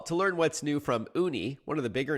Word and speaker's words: Ooni: your pie well to learn what's new from uni one of the bigger names in this space